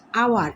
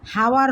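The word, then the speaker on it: hour: এন তারপর দেখো ডশ আওয়ার এখন এই এইচ এর উচ্চারণ কিন্তু হচ্ছে না আওয়ার আও আওয়ার হচ্ছে আওয়ার উচ্চারণ হচ্ছে হাওয়ার হচ্ছে না এই এইচ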